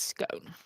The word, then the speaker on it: scone: or stone yes nouns ending in e are pronounced own like stone or phone or cone yeah and verbs